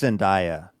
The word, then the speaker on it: Zendaya: It's Zendaya. I honestly can't remember what's right and what's wrong anymore. You said it right. Okay, Zendaya.